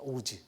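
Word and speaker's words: עֹז: 여호와는 나의 힘이라고 말하는이 힘이라는 단어는이 발음하자면 오즈입니다 오즈 그니까 어 뭐 어떤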